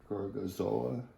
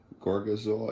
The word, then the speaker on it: Gorgonzola: How do you pronounce this? Gorgonzola. Gorgonzola.